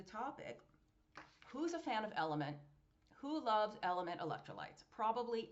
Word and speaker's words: LMNT: Salty, just like LMNT is pronounced element.